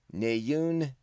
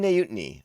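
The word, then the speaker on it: Neeyutnee: at the battle droids jamila mcmillan becomes queen nayoon no i said it wrong nyunt knee queen nayutini of naboo and david accord is the voice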